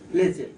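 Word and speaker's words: pledget: or momentum or what p l e d g e t d d is silent pleas so this is one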